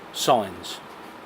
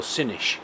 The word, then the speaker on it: Sines: anchorages we've been to, Sines, or Sinish as it's pronounced locally.